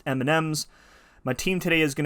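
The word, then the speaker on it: EMNMZ: today we're taking on e-m-n-m-z which i think is pronounced m m's my team today is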